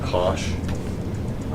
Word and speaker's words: cosh: Sometimes this is just pronounced sinh, and hyperbolic cosine is pronounced cosh.